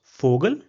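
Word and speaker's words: Vogel: Another example which we already saw during our alphabets was fogal which means bird. So you see over here again the sound of fo is the same as the sound of f. So fogal.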